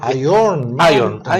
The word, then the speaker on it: Iron Mountain: Se pronuncia Iron Mountain.